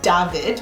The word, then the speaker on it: David: Same with David. David is English, but if you were going to pronounce it in German, it would be David, which is my husband's name.